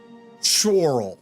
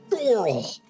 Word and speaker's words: Chorrol: Chorrol. Okay. Chorrol.